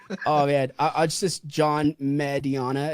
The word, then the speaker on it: Mediana: See, a lot of people say, What was that, Medina? It's like, no, it's never mind. It's Whatever. Mediana. It means medium in Spanish.